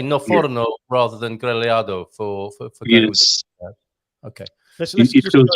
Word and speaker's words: grelhado: How do you say grillado in Portuguese?